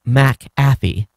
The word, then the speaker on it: McAfee: mc is a prefect it's pronounced separately so the c is not added to the second syllable that means mcathy is pronounced mac affy a few moments later